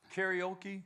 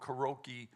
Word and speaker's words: karaoke: better than anybody else because most people say it wrong karoki they don't understand it